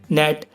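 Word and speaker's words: gnat: नेट, नेट माने कुटकी, campaign, campaign माने अभियान। सो गाइस, अगला है हमारा एच कब साइलेंट रहता है।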